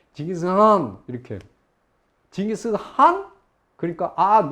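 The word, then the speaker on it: 칭기즈 칸: 징기스칸? 그러니까 노. 징기스칸 이 콧소리를 내야 돼요. 그래서 칸도 아니고 한도 아니고.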